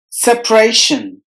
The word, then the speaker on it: separation: the remaining course separation separation there are three syllables in this word and we have to stress the middle syllable Rey must be heard with more volume separation and the letter a is silent religion religion there are